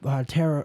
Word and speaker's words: tarot: that uh that that tarot tarot tarot tarot yeah tarot tarot reading it's spell like terat or something weird but it's pronounced Tarot uh that tarot reading